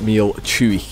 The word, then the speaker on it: Meall Chuaich: in the video but it is pronounced meal chewy yeah today we're doing